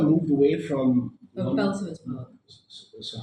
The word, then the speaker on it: Belsize Park: I mean, you mentioned this one story about Belize Park, and So Souza moved away from Oh, London. Belsize Park.